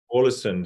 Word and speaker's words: Ålesund: Is it pronounced Ålesund? Ålesund.